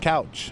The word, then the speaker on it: Couch: I pronounce it Cooch, but a lot of people pronounce it Couch.